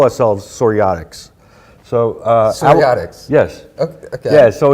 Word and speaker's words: psoriatics: So psoriatics. Yes. Okay. Yeah. So it's spelled differently. It's kind of confusing. The P is silent.